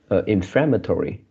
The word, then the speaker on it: inflammatory: the right oh okay inflammatory so the stress is on the second the flat the flat inflammatory right so you pronounce